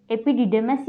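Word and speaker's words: epididymis: Third है अधिवृषण, एपिडिडैमस, एपिडिडेमस या एपिडाइडेमस भी बोल सकते हैं। इसका प्रोनाउंसिएशन दो तरीके से होता है, एपिडिडेमस या एपिडिडाइमस।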